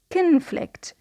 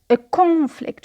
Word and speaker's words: conflict: When it was a verb, we notice a schwa in the first syllable. Kun, not con. Conflict. Conflict. So a schwa in the first syllable. But when it is a noun, we say a conflict with o, a conflict.